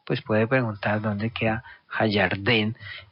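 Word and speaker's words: הירדן: El río Jordán en hebreo se dice Ha-Yarden. Ha-Yarden. Yarden. O sea, el río Jordán. ¿Sí? Así se llama, Ha-Yarden. Entonces, usted estando allá, pues puede preguntar dónde queda Ha-Yarden, y le van a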